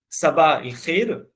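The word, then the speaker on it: صباح الخير: On va prendre juste le premier syllabe, Saba, et on rajoute al-khir. Saba al-khir, voilà, le bonjour de la charité, de bonheur, etc.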